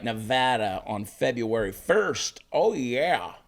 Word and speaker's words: Nevada: gonna be in Reno Nevada say it right Nevada on February 1st oh yeah Reno never been